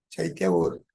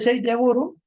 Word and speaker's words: Chaitya Guru: Ya saben, la C se pronuncia como Che, Chaitya Guru. ¿Quién es el Chaitya Guru?